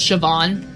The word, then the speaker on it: Siobhan: Co bond it's literary pronounce Siobhan like with a V my oh babysitter's name